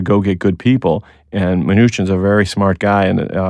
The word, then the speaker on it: Mnuchin: Mnuchin.